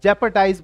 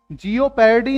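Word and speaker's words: jeopardy: खतरे में डालना को जैपर्डाइज बोलते हैं तो करेक्शन ध्यान रखना है सही उच्चारण का क्या है जैपर्डी जिओ पेडी नहीं है इसमें साइलेंट है तो जोखिम उठाना खतरा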